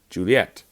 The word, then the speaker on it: Juliet: Juliet. But Juliet can also be said Juliet. So it's two syllables instead.